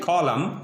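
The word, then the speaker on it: column: रहा होगा कि आपको एन लिखा हुआ है लेकिन एन पढ़ा नहीं जाएगा because N इज a silent. N क्या है यहाँ पे? साइलेंट है। तो साइलेंट वर्ड होने की बुनियाद पर यहाँ पे हम एन को नहीं पढ़ेंगे।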